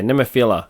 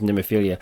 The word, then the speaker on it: Nemophila: Yeah, Nemophila. Sorry, I thought it was Nemophilia.